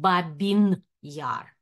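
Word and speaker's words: Babyn Yar: I am pronouncing in the Russian way using the title of the book. However, I would like to make you aware that nowadays, the Ukrainian version and Ukrainian pronunciation of this region is came into practice and discourse, so it is called Babin Yar.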